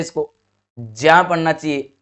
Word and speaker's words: ज्ञ: ज्ञान पढ़ते हैं इसको, ज्या पढ़ना चाहिए। शुद्ध उच्चारण इसका ज्या होगा, ये याद रखिएगा।